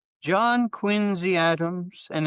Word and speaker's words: Quincy: And I said, and she said, "That's how it's pronounced." She was born in in Quinzy. Cuz I I hear so often people say John Quincy Adams. Quinzy Adams.